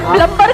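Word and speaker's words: plumber: सर उसको खुद ही नहीं पता कि बी साइलेंट है। आप हाँ। उसको प्लम्बर बोलोगे, शायद उसको अजीब लगे, मैडम फालतू क्या एक्सेंट मारी।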